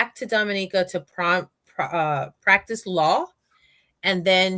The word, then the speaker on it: Dominica: Dominica. You see, people? It's not Dominican.